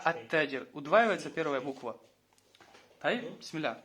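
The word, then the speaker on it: التاجر: А когда к ним добавляется аль, удваивается первая буква, а сам артикль не читается. Например, таджир, ат-таджир. Саубун, ас-саубу. То есть с алиф-лям будет ас-сауб. Не аль-сауб, а ас-сауб. Не аль-таджир, а ат-таджир.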